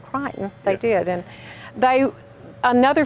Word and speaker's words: Creighton: i love that we we pronounced it creighton but it's cricketing around here that that's only here that it's called crying you go anywhere else in the country and you'll hear creighton but yes they pronounced it crichton they did and they